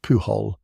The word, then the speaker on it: Pujol: The finest of those men was a Spaniard named Juan Pujol Garcia, pronounced Pujol, who loathed totalitarian rule of every colour and had volunteered himself to the Allied cause.